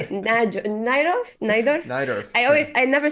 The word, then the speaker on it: Najdorf: I don't even know how to pronounce that. I always read Najdorf? it, but I don't say it. Najdorf? Najdorf? Najdorf, yeah.